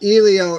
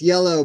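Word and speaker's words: Iello: It's not Elio, it's Yellow, Bob. Bob for years pronounced this the wrong way, and I've kept correcting it.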